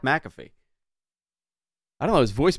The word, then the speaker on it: McAfee: people's names Pat mfy tell Pat mcaffe I'm like that John that's it's Pat McAfee I don't know his